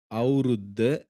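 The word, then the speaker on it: අවුරුද්ද: இதுல பார்த்தீங்களா இருந்தா, இந்த பாடத்துல அவுருத்த, அவுருது. என்னென்ன? அவுருத்த, அவுருது. உச்சரிச்சு பாருங்க. அவுருத்த, அவுருது.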